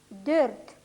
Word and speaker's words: dört: Губы вытягиваются немного вперед, язык тоже впереди. Ü, üç, Ö, dört.